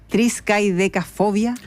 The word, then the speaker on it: triscaidecafobia: Profesor, ¿qué será la triskaidecafobia? Excelente. Muy bien pronunciado, además.